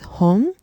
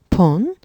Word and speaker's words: 本: This is pronounced as hon, pon, or bon, depending on the number.